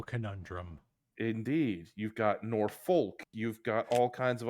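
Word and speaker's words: Norfolk: they say it like you got the people who say norfol which is what the locals call it it's nor you got the L conundrum indeed you've got nor folk you've got all kinds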